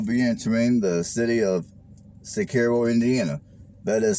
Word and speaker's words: Cicero: here i will be entering the city of sicario indiana that is spelled c-i-c-e-r-o now this community is here in